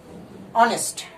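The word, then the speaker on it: honest: কিন্তু যখনই এইচটা উচ্চারিত হবে না, এইচটা উচ্চারিত হবে না, যেমন এটার উচ্চারণ কিন্তু হনেস্ট না, অনেস্ট।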